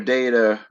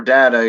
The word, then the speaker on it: data: Then be able to present your data or data. You can pronounce it either way, right off the top of your head, just like Fish did and pulled out his fish stick.